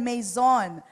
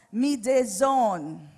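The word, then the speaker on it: μείζων: i z o n So kung babasahin natin Mayon but Actually it is pronounced as mzone Okay mzone para lang medison Ayan so yyung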